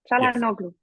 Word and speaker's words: Çalhanoğlu: Go on, pronounce it. Hakan Chana, Chanan, Çalhanoğlu. Chanhanoglu. Çalhanoğlu. Chan, Han, Oglu. Yes, Chalanoglu. Çalhanoğlu.